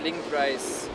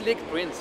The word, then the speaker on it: Linkprince: All right, let's have a look, a closer look at link price. Like link prince, not link price.